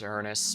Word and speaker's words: Uranus: I think it's technically pronounced Uranus, but we all know the real... Everyone wants me to pronounce it Uranus.